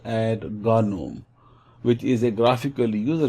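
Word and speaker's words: GNOME: here this is a basically known as or pronounced ad Ghanim which is a graphical user interface and set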